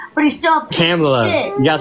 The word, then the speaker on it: Kamala: He may have been better than Camellia, but he's still a piece Kamala.